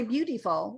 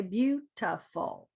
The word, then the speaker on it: beautiful: is an unstressed so we have beautiful we don't say beauty fall we say beautiful because this is considered an unstressed vowel and it's considered schwa but most of the time